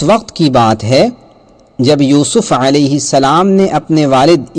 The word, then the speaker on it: یوسف: کھلا ہوا دشمن ہے۔ اس سورت کا تلفظ ہے سورہ یوسف، یوسف نو، یوسف، اور اس پوری صورت